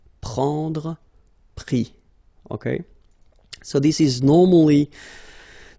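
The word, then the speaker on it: pris: And then prendre, so e-n-d-r-e, will give es, prix, okay. Same thing here, you don't pronounce the final s, okay.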